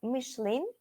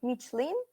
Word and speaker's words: Michelin: first company then uh michelin or michelin both pronunciations are correct next one yahoo samsung